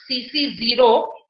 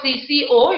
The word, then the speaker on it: CC0: It is pronounced as CC0. It is not CCO, it is CC0.